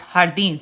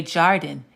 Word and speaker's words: jardín: So it's jardín. So we wouldn't look at this and say jardín. It's jardín because the J's are pronounced like H's in Spanish.